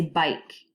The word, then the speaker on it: bike: Say bike. This word contains 4 letters, 1, 2, 3, 4, but only 3 sounds. B, I, K. Bike. Because the E is? The E is silent.